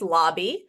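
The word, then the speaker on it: Laube: pronounce that last name it is Lobby it's Lobby like the lobby of a hotel yeah that's exactly right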